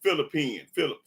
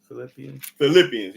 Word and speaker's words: Philippians: Go to Philippines. Let me show y'all this cold lie. Is it Philippines? Is that how is I'm pronouncing it right? Philip or Philippines? Philippians, yeah, that's right.